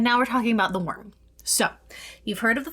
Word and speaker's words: wyrm: So, what is a worm? Pronounced worm. W RM or if you want to try to get real fancy go.